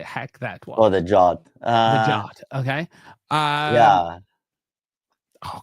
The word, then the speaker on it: JWT: Why they say it's pronounced JOT? I can't do it. Okay, I can't force. Because JWT, if you squeeze it fast, is JOT, right?